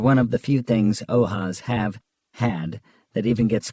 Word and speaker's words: OAS: The Andrew Melvin interrogation footage, AMF, pronounced ath is infamous among the conspiratorial community of old house archivists, OAS, pronounced ohas.